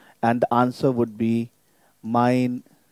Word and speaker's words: mein: And the answer would be, mein Name ist Wilhelm. Mein Name. So it's mine. In English, we pronounce it like, this is mine. Same pronunciation, but the way of writing is different.